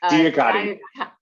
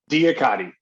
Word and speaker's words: DIAKADI: In 2004, he founded, now I'm never going to pronounce this correctly. DIAKADI. Say it again. DIAKADI.